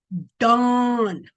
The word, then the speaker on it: Dan: It actually was pronounced dawn.